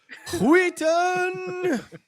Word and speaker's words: Wheaton: He keeps not pronouncing the H. It's Will Wheaton. Yes, it's Wheaton.